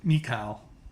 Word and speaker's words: Michal: A lot of people pronounce it Michal, so they don't mix it up with Michael.